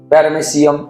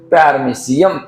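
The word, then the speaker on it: Paramecium: म्हणजे लर्न करण्यासारखं नाहीये प्रोनाउंसिएशन म्हणून येते प्यारा मेसी एम प्यारामेसियम असं म्हणतात एम नाही पॅरामेसिम प्यारामेसियम स्पेलिंग पाहायचे वाचत असताना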